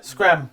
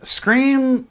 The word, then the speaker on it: Scream: Scram. Scream. Scream? Scream. It's not pronounced scram? It's never been pronounced Scream. Oh, I thought it was pronounced scram.